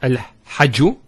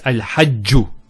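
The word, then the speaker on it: الحَجُّ: Also here, al-hajju. It's not al-hajju, it's al-hajju. And here, rabbi.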